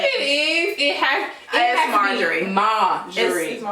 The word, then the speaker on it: Marjorie: They were like at a brunch with like Steve and Majorie. Like, yeah. Majorie? That's not her name. Marjorie.